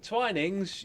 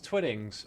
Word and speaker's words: Twinings: Wait, Twinings. You thought it was Twiddings. Oh, I've already said Twinings.